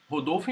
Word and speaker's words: Rodolfo: oh, Rodolfo. Rodolfo. Not Rodolfo. Rodolfo in Portuguese. Rodolfo. Because my name starts wow. with R.